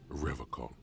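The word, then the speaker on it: Revachol: He pronounces Revocol.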